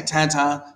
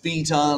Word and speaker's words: theta: And I say theta, not theta, like the people from the island in the UK. No, I say theta, because that's how I learned to pronounce it.